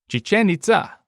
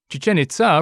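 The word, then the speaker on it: Chichén Itzá: It's spelled Itza, but I'm pretty sure it's pronounced Itza. Chichen Itza. I'm pretty sure that's the right pronunciation. It has accents over the E and the A, so it looks like you're supposed to stress those syllables, if I remember my university Spanish classes.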